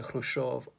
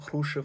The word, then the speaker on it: Khrushchev: Nikita Khrushchev, or Khrushchev, I think you pronounce it, had been the general secretary for a while.